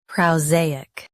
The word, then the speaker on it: prosaic: Keep uk soft, not hard. Prow, zay, uk. PROSAIC.